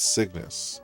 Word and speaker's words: Cygnus: Cygnus. It's Cygnus. Okay. That makes more sense. So kind of like sickness, but it's Cygnus.